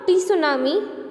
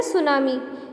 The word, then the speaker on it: tsunami: Okay, now students, it is not tsunami, it's जो उसका pronunciation है वो है tsunami. T silent है.